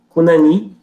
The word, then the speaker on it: Cunani: Deixa eu só digitar aqui para não ficar estranho, é assim que se pronuncia, Cunani.